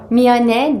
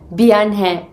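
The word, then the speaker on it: 미안해: Miyane değil, Biyanhe olmayacak mı diye. Evet, yani bunu mesela dizilerde ya da şarkılarda dinlerken kulağımıza Biyanhe, yani B ile kullanılıyormuş gibi gelebiliyor. Ama aslında M harfiyle, Korece'deki M harfiyle yazılıyor.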